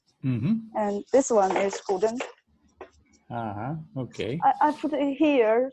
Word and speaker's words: guzheng: And right now we're talking to Minnie Wang, and she's in China, and she's dusting off her guzheng. How do you? This one. Yeah, how do you pronounce it?